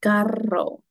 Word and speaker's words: carro: Carro.